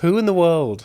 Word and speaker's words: Hoointheworld: Whointheworld. Whointheworld. Yeah. It's spelled like your surname, H-O-O.